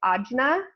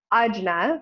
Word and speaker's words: ajna: and in Sanskrit this is I've heard it pronounced a couple ways I've heard it odd Jenna and I've heard it III on on yeah Anya something like that I prefer ajna because Anjali is a mudra that we're very